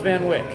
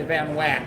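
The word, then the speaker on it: Van Wyck: How do you pronounce Van Wick? Van Wick. You say Van Wick. You don't say whack. It drives me nuts when people here say Van Wack.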